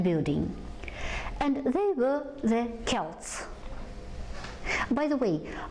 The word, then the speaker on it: Celts: By the way, слово Celts читается вот именно так и пишется именно так против всех правил. Ведь по правилам, да, по произнесению «с» это должны бы быть Celts. Но тем не менее, постарайтесь запомнить, начинается с Celts.